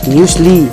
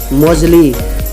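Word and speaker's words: muesli: ओह सही प्रोनाउंसिएशन है म्यूसली और गलत है मोजली।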